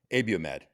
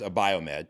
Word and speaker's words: Abiomed: Johnson and Johnson bought abiomed where because it's not pronounced a biomed because I got corrected on that it's abiomed do you know that